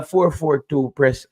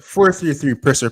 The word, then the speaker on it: 433 Presser: Me call you 442 press. Oh yeah, 433 Presser, people, with an ER at the end of the press.